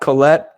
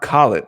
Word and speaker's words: Collett: Some of the names include that have confirmed so far: Frody Midjord, Mark Collett, not Colette, Mark Collett, right? We've been saying it wrong with our American accents.